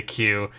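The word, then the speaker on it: 九: door is actually a Q. This works better in Japanese, as the word 9 in Japanese is Q and is pronounced like the English letter.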